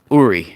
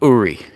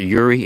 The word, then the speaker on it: Uri: uh it's spelled u-r-i uri it's actually uri it's not yuri it's uri it's it that's how it's pronounced it's a uri yuri